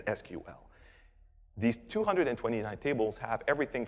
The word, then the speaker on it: SQL: virtual SQL database and I will never pronounce it sequel sorry if anyone thinks I'm wrong its SQL these 229 tables have